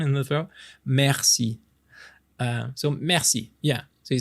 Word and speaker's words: merci: Oh, this gets tricky too because the French we roll our R's, which some people are really horrible at, and I won't judge you. It's okay, but like it would be merci, merci.